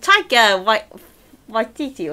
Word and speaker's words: Taika Waititi: With Taika Waititi or something rather.